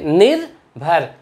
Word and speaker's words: निर्भर: इसको पढ़ेंगे निर्भर, नी के बाद रा का उच्चारण कर रहे हैं, निर्भर, दुर्बल।